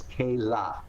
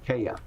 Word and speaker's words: Kayla: it's ooh, and like my granddaughter's name is Kayla, and I pronounced her name Kaya, because I couldn't process. It's not my hearing. I couldn't process those sounds. The sound for L is la, Kayla, and so like the